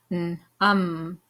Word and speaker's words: numb: Num. Num. The B is silent.